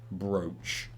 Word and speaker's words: brooch: dealing with you today brooch makes an O sound first pronounce so smooth